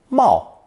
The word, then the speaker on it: 贸: Pronounced fourth tone, Mao, Mao.